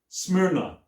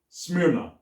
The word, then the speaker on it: Smyrna: just a moment i have to remember the pronunciation of the name of this town it's called smyrna smyrna and it's a town that is ancient and